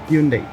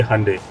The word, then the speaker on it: Hyundai: अच्छा, पता है वैसे आपको Hyundai की सही प्रोनाउंसिएशन क्या है? Hyundai नहीं। अच्छा, और क्या है? ये सुना है मैंने, Hyundai। संडे Monday Hyundai। अच्छा, ऐसे प्रोनाउंस करते हैं।